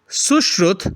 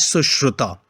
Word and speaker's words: Sushruta: The next one is Sushrut. That's a correct pronunciation, whereas I mentioned or read it as Sushruta, right?